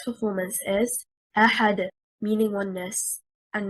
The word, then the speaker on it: أَحَدٌ: The word أحد, the stress is on harakat al-hamzah because it is stronger. Well, whoever reads it wrong and says أحد, they take the stress